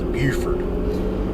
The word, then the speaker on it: Beaufort: for north carolina and beaufort south carolina the difference is the people in south carolina pronounce beaufort north carolina's beaufort there you go learn something